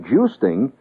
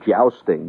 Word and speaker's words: jousting: a cheap business like juicing and by the way that is the correct pronunciation as opposed to jousting which most people because